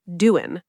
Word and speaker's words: doing: it, you don't really say the G at the end of doing. Great observation. That's a native speaker secret. We often say doing, I'm doing great. It makes the sentence flow much better.